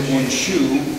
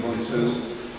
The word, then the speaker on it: Unshu: Mikami wasn't jumping, and the Shitoru, as they do Unshu, which is another pronunciation of Unsu, they have no jump.